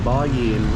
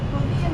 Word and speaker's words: bò viên: The bò yin looks good. Wait, I'm saying it wrong. Bò yin. Bò viên đúng không? Yeah, bò viên.